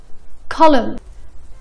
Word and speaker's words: column: ولكن استمعوا لهالكلمة. column. column. ما نطقنا حرف ال n باخرها.